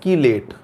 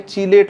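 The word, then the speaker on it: chelate: अगला पॉइंट आता है हमारे पास एक, ये भी महत्वपूर्ण है, कीलेट। अब इसका चूंकि प्रोनाउंसिएशन हो सकता है कहीं चीलेट लिखा मिल जाए, कहीं कीलेट लिखा मिल जाए, उससे कोई फर्क नहीं पड़ता।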